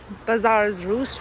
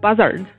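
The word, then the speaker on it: Buzzard's Roost: around four miles so bazaar's roost trail i am going to run the whole way i did not run the whole way and also why did i pronounce it like that it's buzzard i heard the ocean ocean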